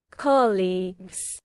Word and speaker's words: colleagues: Colleagues.